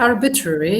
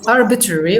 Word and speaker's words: arbitrary: that is the adjective arbitrary arbitrary yes if you like the american pronunciation or arbitrary if you like the british pronunciation so arbitrary or arbitrary what is